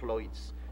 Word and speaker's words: Lloyds: Esos apellidos en galés, por ejemplo, Lloyds se debe decir Lloyds, y el otro Llewellyn.